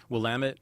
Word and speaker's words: Willamette: And you say it's Willamette? Willamette.